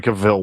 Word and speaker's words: Cavill: being that Henry cable uh I I said cable Cavill excuse me uh Ben Affleck is back other